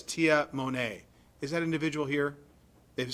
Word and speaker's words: Tamane: All right, and then I'm going to go back to it's spelled Tamane Tuiana, but in parents it says Tia Monet.